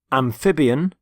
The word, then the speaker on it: amphibian: Amphibian, carnivore, herbivore, omnivore, predator, prey, parasite. And the first word is amphibian. Amphibian. Notice the stress on the middle syllable.